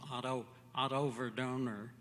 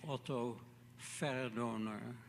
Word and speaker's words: Otto Verdoner: That's the American pronunciation, I suppose, Otto Verdoner. And in Holland, I would be Otto Verdoner.